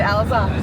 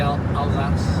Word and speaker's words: Alsace: Is that actually how you pronounce it, Alsace? It's the Alsace. Alsace?